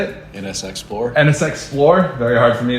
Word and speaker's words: NSXplore: NSXplore.